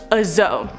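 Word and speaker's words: dzo: on to number four azo this is spelled d-z-o or d-z-o the zo is a hybrid of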